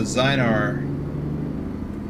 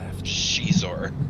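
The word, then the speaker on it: Xizor: I've always I've always thought it was a zynar oh I could have turned back there that would have been better left there's a character in there the spelling of their name is x-i-z-o-r and it's pronounced shizor oh boy oh Boomer's right zynor okay getting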